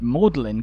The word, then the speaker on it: Magdalen: a few centuries later the common pronunciation had become melin the original way to say it magdalin later became commonplace again but melin College kept its distinctive pronunciation giving us the headache we